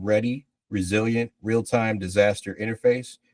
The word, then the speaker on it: R3DI: Today, I'm presenting our commercial solution called Ready Resilient Realtime Disaster Interface, which is pronounced ready and spelled R3DI.